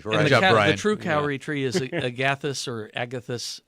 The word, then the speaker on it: kauri: but Lenore in Canyon Country asked to spell that tree name, and I think she's talking about the kauri tree.